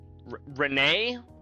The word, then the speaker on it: Ren: You always pronounce Ren as Renee before they said it just like Ren.